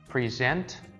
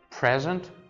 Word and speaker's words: present: So we have two forms of pronunciation, present and present, right? Present, second part, present, first part.